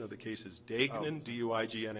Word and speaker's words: Degnan: and I want to correct kennel date-date the pronunciation of the cases Dayton DUI GNA n it's my case counsel said